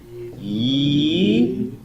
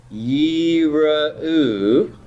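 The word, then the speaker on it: יִרְאוּ: So if that's long, the shava is vocal. So how am I going to pronounce this word? Yi-ra-u. Yi-ra-u.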